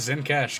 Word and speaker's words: Zencash: And I'm officially retconning the pronunciation to Zencash, because you guys gave me a little too much shit over the previous version of that name.